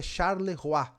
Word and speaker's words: Charleroi: O Felipão, meu grande amigo, viajante do do mundo todo, falou que é Charle Rois o jeito certo de falar ali na Bélgica.